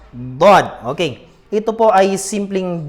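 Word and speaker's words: ضاد: Ang dad po, kagaya lang po siya ng letrang dal. Ngunit, ang dad ay lalagyan po natin ng hangin ang ating mga bibig. Lalagyan po natin ng hangin sa loob nito para mabigkas po natin ang dad.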